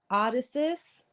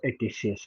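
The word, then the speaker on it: Odysseus: O, how AI Odysus escaped from the sirens and how his ship was re uh wrecked. Um, that's Odysius, by the way.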